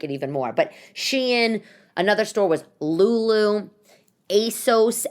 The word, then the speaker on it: Shein: It's not cheap like Shein, or maybe it's Shine. I don't even know how to pronounce it. It's Shein.